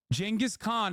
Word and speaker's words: Genghis Khan: Genghis Khan is how you say it, you fucking idiots.